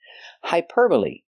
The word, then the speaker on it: hyperbole: first word hyperbole hyperbole use the long i for the y High per like the burger hyperb use the relaxed sound uh like cup and up hyperb Le the last e makes a long e sound like green beans hyperbole hyperbole is a